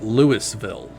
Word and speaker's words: Louisville: you know, not in the region might call it, Lewisville or Louisville, but it's Louisville.